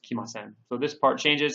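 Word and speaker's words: 来ません: And please note that the character here is pronounced ku in the dictionary form, but here, just like with kimas, it's pronounced kimasen.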